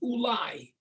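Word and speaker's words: אולי: The word in Hebrew for perhaps is ulai. Maybe. Maybe I should go somewhere else. But the word ulai is spelled Aleph, Vav, Lamed, Yud.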